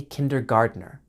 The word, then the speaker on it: kindergarten: We can say you are in kindergarten or a kindergartener. Notice that the T in kindergarten is pronounced with a D sound, kindergarten. So, it sounds like garden, but is not spelled the same.